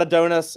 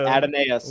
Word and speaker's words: Adonais: It's not Adonis. It's not. I know. Y'all say it right. Know. It's Adonais. We learned that on when you came on. Yeah, it's Adonais.